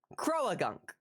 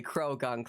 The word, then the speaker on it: Croagunk: Now, I say Croagunk. Chat says you say Krogunk like them. You say Krogunk like them. Wrong. It's wrong. It's wrong.